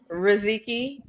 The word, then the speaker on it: Riziki: How do you pronounce it? Riziki. Riziki. Okay, Riziki.